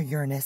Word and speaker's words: Uranus: sorry saturn jupiter and uranus or uranus some people like to pronounce it but always have just got used to that one as a kid so